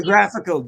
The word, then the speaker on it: hagiographical: Did you put an I in there? Hagiographical. I thought it had an I. Yeah. Say it again. Hagiographical. Hagiography. Okay. Well, how do you say it? Hagography? No, that's about hags. For years I thought it was hagiography. I thought it was maybe like it hagiography. Is. But there's a hard G in it.